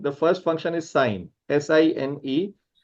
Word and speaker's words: sine: So sine, the first function is sine, S-I-N-E. How do you pronounce it? You should pronounce it as sine, right?